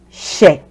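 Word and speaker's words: Ṣ: So this letter is not S. If you're an English speaker, it's not S. It's she. That's what we call this letter.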